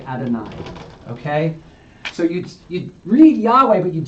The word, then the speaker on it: Yahweh: That's this Yahweh thing.